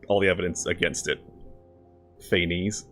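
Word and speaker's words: Phanes: Feaines. No, I'm not going to call him Fenies, even though I know that's Greek accurate. Feain cuz it rhymes. It sounds like FA.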